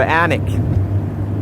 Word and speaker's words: Alnwick: We're heading for Alnwick, but they spell it A-L-N-W-I-C-K.